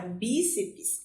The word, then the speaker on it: bíceps: Perceberam aqui que a palavra bíceps, ela possui duas sílabas e nós ativamos um conhecimento da nossa língua, que são das consoantes chamadas mudas, que é quando ela não está próxima com uma vogal.